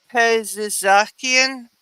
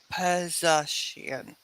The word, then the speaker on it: Pezeshkian: He's the person, Masoud Pezizakian. Pezeshkian. He's been leading. He's the Reform Party. Okay, before I know how to pronounce that, I got to see the spelling.